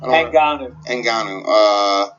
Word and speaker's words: Ngannou: Ngannou.